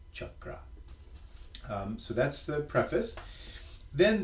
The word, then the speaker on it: chakra: Many people say chakra or chakra, but it's actually pronounced chakra. And so we explain how that's pronounced in the back as CHUK-RA, chakra.